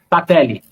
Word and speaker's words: Sattler: a pronúncia está correta? É Sattler? Sattler.